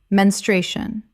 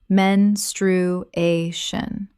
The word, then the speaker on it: menstruation: aneurysm aneurysm Word 65 menstruation common mispronunciation men-stru-a-tion correct pronunciation men-stru-a-tion The stress falls on the third syllable.